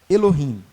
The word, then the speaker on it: Elohim: se escreve no hebraico Elohim ou Elohim é porque o H em português ele não é ele não é inspirado né mas por exemplo no